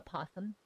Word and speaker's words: opossum: did I had a opossum or a possum as we call them the O is silent but it's the difference